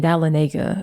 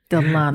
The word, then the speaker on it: Dahlonega: We kept saying Dahlonega, but I think Dahlonega. I think it's Dahlonega. You got to say it right.